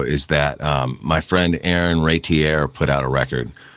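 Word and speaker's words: Raitiere: Yeah, it's I always screw it up by pronouncing it Ratieri, but there's no E on the end. There's an E on the end, but you don't pronounce it.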